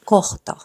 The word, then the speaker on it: kohta: Doesn't matter whether it's in the beginning or in the middle of the word, you have to pronounce the letter H. Kohta.